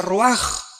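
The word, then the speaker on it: רוּחַ: Se pronuncia roaj. Por ejemplo, cuando hablamos del Espíritu Santo, el Espíritu Santo es roaj, el cadosh.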